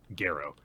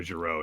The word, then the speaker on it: Gero: Ushio accompanied by, I always forget his name because it's Gero. I keep on looking and I want to go Jiro, and it's like, that's not how you say it.